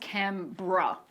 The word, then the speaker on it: Canberra: It's pronounced Canberra.